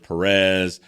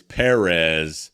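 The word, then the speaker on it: Pérez: saying his name right i know a lot of people say his name george perez and he he publicly corrects people a little bit it's it's perez the emphasis is on it's a different emphasis so uh i'll probably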